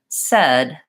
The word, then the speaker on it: said: What you might find is that you might say red, says, because you have a habit of how you say the word says, that's incorrect. And if you can hear that difference and hear that you're keeping it the same when you say red, said, that helps anchor that vowel in place.